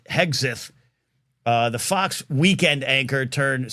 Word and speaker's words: Hegseth: And that's what Pete Hexeth is. I always say his name wrong because of a former Major League Baseball player named Joe Hesketh. But Hegseth, the Fox weekend anchor